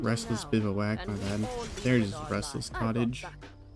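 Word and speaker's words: bivouac: Cottage or not Restless bivak my bad there's Restless Cottage bivak it's such a weird word I'm pretty sure that's the right way to pronounce it I I Googled it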